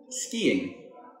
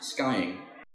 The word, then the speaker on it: skiing: say these after me skiing not skying ballet notice the t